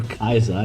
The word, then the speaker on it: Caesar: think week 3, between Caesar Says, or Kaiser if you want the Latin pronunciation, and Horii.